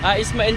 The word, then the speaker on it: Ismail: Ano ba yung pagkabigkas ng ano? Ismail po.